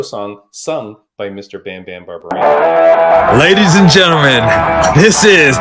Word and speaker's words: Barberena: I always say Barberena, but it's Barberena? Barberena, yeah.